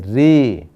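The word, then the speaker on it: ऋ: है, हाँ आठवां है री. देखिए रू नहीं, इसका उच्चारण हिंदी में होता है री, है ना. तो आपको भी री बोलना है.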